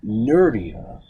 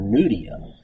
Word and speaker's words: Nuria: So it's Jean-Claude and Nuria, Nuria. I didn't understand how to pronounce it, so I'm walking around like for 6 months calling her Nudia.